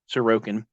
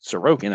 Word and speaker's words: Sorokin: of the game at various points aliases or sarokin shizerkin that's how I used to pronounce it until I realized how it's really pronounced sarokian I don't want to disrespect the guy he